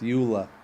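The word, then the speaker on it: JOOLA: by this Jula agency it's the J is silent it's Ula but Yesa okay and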